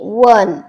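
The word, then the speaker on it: one: ए वन पहा आता ए वन का म्हणतोय आपण तर साऊंड लाईक डब्ल वन मी काय सांगितलं तुम्हाला ्यामध्ये स्वरांचा उच्चार सुद्धा करणं खूप महत्त्वाच आहे ज्या शब्दाचा स्वराचा उच्चार डब्ल जरी स्पेलिंग स्टार्ट होत असेल तरी त्याचा उच्चार करताना डब्ल चा ओल साऊंड आपला कोणता येतोय तर डब्ल येतो म्हणून त्याच्यापुढे आपण ए युज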